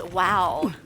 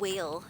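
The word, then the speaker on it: Wael: So, the god's name is Wow. It's not whale as I was pronouncing it, which is unfortunate.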